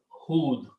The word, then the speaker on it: Hud: Hudun was the name, okay? Or when you say stop, you say Hud, Ad and Hud.